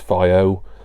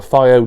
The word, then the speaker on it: FiiO: Now, this is one of the components for my upcoming new, although it's really old, replacement hi-fi. It is the Fio, I think it's pronounced Fio rather than FO.